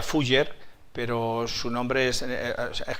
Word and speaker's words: Fuller: Y entonces, aunque se pronuncia Fujer, pero su nombre es es como Shakespeare o Sakpeare, ¿no?